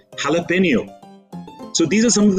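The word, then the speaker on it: jalapeño: It's not jalapeno, it's jalapeno.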